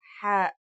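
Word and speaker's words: حاء: The closest English counterpart to the sound is H. The only difference is that it comes from a point deeper down in your throat, just like this.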